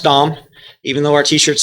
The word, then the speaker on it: Dahm: is an easy name to remember it is pronounced dom even though our t-shirts say yes i'm a